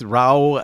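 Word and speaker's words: Rauw: El Paso uh with ra Alejandro um he's yeah I think his name is RA but he prefers to spell it with the w but bless you ra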